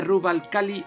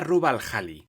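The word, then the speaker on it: Rub' al Khali: norte y el de rubalcaba al sur pequeña corrección se pronuncia rubal halle vivir en estas zonas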